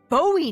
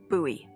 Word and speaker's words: Bowie: no warning he pulls out this huge Rusty Bowie knife it's actually pronounced buoy what no it's like the last name like